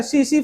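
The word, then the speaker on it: tsetse: टीसी टीसी नहीं होता सीसी फ्लाई होता है। टी साइलेंट है।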